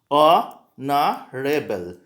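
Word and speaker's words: honourable: तो इसके प्रोनाउंसिएशन से ध्यान दीजिए, ऑनरेबल। सो ए से प्रोनाउंसिएशन स्टार्ट हो रहा है।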